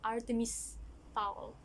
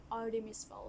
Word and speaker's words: Artemis Fowl: From my previous video, I said Artemis Fowl, but the right pronunciation is actually Artemis Fowl.